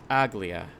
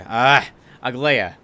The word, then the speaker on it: Aglaia: Aglia. I'm sorry. Aglaia. I don't know why I keep defaulting that, because that's how I think it's said. It's spelled, and it's not.